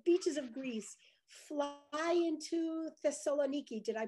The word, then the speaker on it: Thessaloniki: go to the beaches of Greece, fly into Thessaloniki. Did I pronounce it right? Thessaloniki.